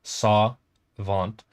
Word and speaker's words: Savant: say Savant like where I pronounce it kind of more French um I think it sounds better saw vant and in Spanish how